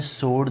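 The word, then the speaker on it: sword: इन्होंने वर्ड पूछा है स्वाड, तो ये है सोड, दरमियान में डब्ल्यू की प्रोनाउंसिएशन हज़फ की जाएगी, सोड।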